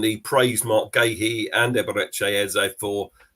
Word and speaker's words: Eberechi Eze: He said Eberechi Eze. I think it's a beautiful way you pronounce it.